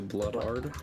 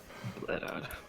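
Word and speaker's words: Bladard: The Bloodard?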